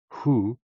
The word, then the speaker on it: Hu: HOO, pronounced like hu, which is associated with the spleen, and XI, pronounced like shi, which connects the whole body.